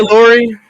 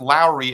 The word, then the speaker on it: Lowry: It's Lowry, as in Kyle Thank you, Lowry Daniel.